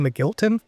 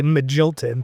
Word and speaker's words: Magilton: I think everybody was saying McGilton. But at Nationals this year, he said it's actually Magilton. Okay. And we've all just been saying it wrong, and he's just been